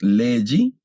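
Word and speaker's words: λέγει: Ese diptongo es legi y aquí acui.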